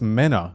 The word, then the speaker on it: Mena: I said Mena well oh it's Mena not Mina Mena huh like meno like the fish but not half a